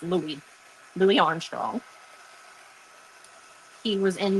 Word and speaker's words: Louis: No, we do not pronounce his name Lewis. His name is not Lewis Armstrong. We call him Louie. Even though there's no E at the end of his name, it's Louie.